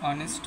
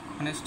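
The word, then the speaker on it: honest: এর উচ্চারণটা হয়নি আবার অনেস্ট ম্যান অনেস্ট ম্যানে এস থাকা সত্ত্বেও কিন্তু এইচ এর উচ্চারণটা হয়নি নিয়মে যেহেতু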